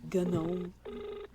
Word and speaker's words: GNOME: The fact that it's spelled like just gnome, but you pronounce it GNOME.